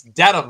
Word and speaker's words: Dedham: I was calling Dedham Dedham Dead. for the longest Oh, time. Everyone's like, Mazza, it's Dedham.